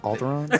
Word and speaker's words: Alderaan: It's it's pronounced Alderaan.